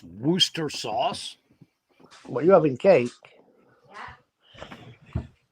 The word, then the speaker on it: Worcestershire: cheap kenny says he's pronounced worcester that's worth jesus christ now you got me confused what's this yeah where's the shire oh yeah that's how it's spelled it's not pronounced wooster sauce are you having cake